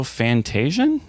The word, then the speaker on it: Fantasian: I might actually go fantasian really really Neo Dimension it's a hard G so let me be